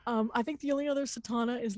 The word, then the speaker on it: Satauna: But it's Satana. Think Madonna. It rhymes. It's S like Sierra, A-T like Tango, A-U-N like November, Satauna.